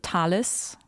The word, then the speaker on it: Thales: philosopher / astronomer who was able to predict a solar eclipse that brought him to Thales. Or I don't know how you pronounce Thales, it.